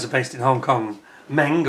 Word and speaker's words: MENG: based in Hong Kong, MENG, or as somebody's told me, you're actually supposed to pronounce it Mung.